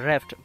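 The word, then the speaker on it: wrapped: এরপর আমরা দেখবো যে র্যাফট, এই ওয়ার্ডটা তোমরা একটু ভালো করে দেখবে, এখানে ডাব্লিউটা হচ্ছে একটা silent word, W আর এ পি পি ই ডি র্যাফট অত হচ্ছে মোড়ানো, ইন কালারফুল রঙিন পেপার মানে কাগজ।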